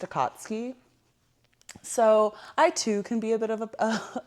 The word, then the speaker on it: Akatsuki: And one time as I was watching it, he kept calling it the Akatsuki, you know, cuz men just feel like they know everything. Uhhuh. And I was like, "What did you say?" Um, it's pronounced a katsky.